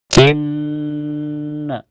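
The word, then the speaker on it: إنّا: Inna di awal ayat ada gunah musyaddadah karena ada nun bertasdid. Cara bacanya ditahan sekitar dua ketukan saja.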